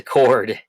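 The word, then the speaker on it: chord: he says toward but it's a cord spelled with the CH and that's another part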